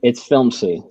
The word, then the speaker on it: Filmzie: It's Filmzy. Filmzy. Yeah. Yeah, it's spelled FILMZIE.